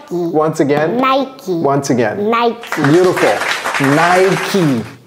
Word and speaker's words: Nike: just like these guys yeah Nike they make Nike tack well but don't pronounce it before you pronounce it all right let's go Cody no problem can you help us pronounce this niky once again Nike once again Nike beautiful Nike don't pronounce it